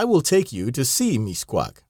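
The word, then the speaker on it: Mixcoac: you an American wanted to see Mis quak pronounced Mis quack the conductor failed to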